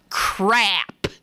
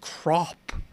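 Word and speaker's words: Crapp: There ain't no other way to pronounce it. It's crap. Now, how would you want your child to have a name of crap? No, you wouldn't. Some family members pronounce it crop.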